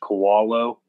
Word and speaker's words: Kowalo: My Twitter handle is my last name, which is pronounced Kowalo, kind of like a koala bear.